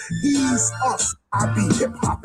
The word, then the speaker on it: Yeshua: Jesus is pronounced as Yeshua. Yeshua.